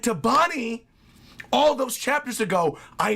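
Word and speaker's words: Bonney: I'm sorry about that boggy boggy it's Bonnie Bonnie you hear me Luffy's still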